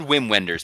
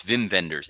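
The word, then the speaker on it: Wim Wenders: It's it's spelled Whim Wenders, but it's Vim Venders.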